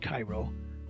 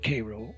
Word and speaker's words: Cairo: his headquarters in Illinois at Cairo or Cairo or Carroll depending on who's pronouncing it where the Ohio River